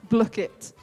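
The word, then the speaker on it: Blooket: and you have like you have to say how ellie says it in a midlands accent block it you spell that b l o o k e t search for block it play so that was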